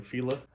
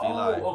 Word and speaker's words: Fila: Fila. Oh, Fila. okay. All right, you got it. I got you. He pronounces the proper way.